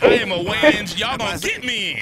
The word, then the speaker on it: Wayans: Nah, it's Wayans. Look ahead. I'm so sorry. Oh, you mispronounced it is what she said.